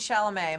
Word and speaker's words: Chalamet: sha'lame my pronouncing it perfectly we have two big movies